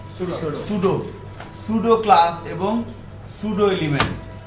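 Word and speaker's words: pseudo: তাই না, সুডো class এবং সুডো element, সুডো class P এস ই ইউ ডিও, পি এস ই ইউ ডিও উচ্চারণটা কি সুডো, সুডো class এবং সুডো element.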